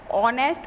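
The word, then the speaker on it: honest: से स्टार्ट हुई है बट जैसे यहां पर साइलेंट है इसलिए यहां पर ऑनेस्ट बोला जाता है वह अकाउंट जाता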